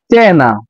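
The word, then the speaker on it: cena: যেরকম চিব চিব এখানে চি এর পরে ই আছে তার জন্য চি এর উচ্চারণ এখানে চর মত উচ্চারণ হচ্ছে চেনা চেনা রাতের খাবার তো চি এর সাথে এ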